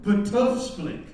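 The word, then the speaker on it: Btfsplk: In our West Indian household, that's the way we pronounced the word. You know, in Colorado, I don't know how you pronounced it, but there were no vowels in it. It was a P-T-F-S-P-L-K. That was the word.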